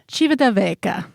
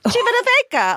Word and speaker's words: Civitavecchia: So let's hear the correct pronunciation if she has it. Civitavecchia. Civitavecchia.